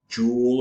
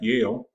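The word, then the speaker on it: Yael: good morning professor and I get Jewel and and jahel and I don't get the proper pronunciation of my name ever which is in fact Yale and I like to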